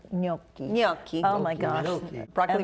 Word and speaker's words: gnocchi: How do you Gnocchi. pronounce that? Gnocchi.